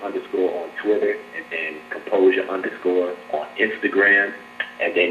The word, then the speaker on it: Composur: Well, my name is actually Composur, but it's spelled without the E. So on Twitter, you can find me at Composur, Composur, without the E, and underscore.